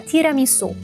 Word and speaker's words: tiramisu: O fato é que precisa pronunciar tiramisu.